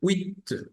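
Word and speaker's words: huit: Ash u i t se pronuncia Wi Wi Wi AC eh con u francesa Recuerden que la u francesa es más cerrada más cerrada los labios y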